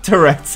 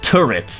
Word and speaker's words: Tourette's: I do have tetts no it's pronounced turrets it's not pronounced tourettes stupid flappy dog